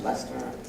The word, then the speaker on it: Leicester: It's like spelled like Heister, but it's pronounced Leicester.